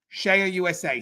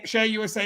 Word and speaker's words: CEIA: shear usa now guys it's spelled ceia shea usa ceia and it's uh share usa is the world's leading